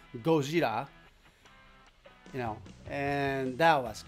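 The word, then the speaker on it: ゴジラ: to the director to pronounce the Godzilla sound in Japanese as Gojira.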